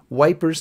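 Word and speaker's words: Ypres: cope with life in the trenches is the wipers times the satirical magazine newspaper that British soldiers published in epra which of course they called wipers because it's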